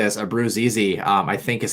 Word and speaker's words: Abruzzese: Abruzzese, I think is how you say it.